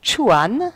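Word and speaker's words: 川: Par exemple, le caractère qui signifie rivière, donc chuan, ça se prononce, hein, rien n'indique qu'ils doivent être prononcés ainsi.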